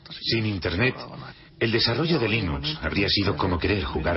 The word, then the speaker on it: Linux: Bueno, yo Linux lo pronuncio Linux. Sin embargo, si fuese Linus Torvalds, no hay duda de que lo pronunciaría Linux.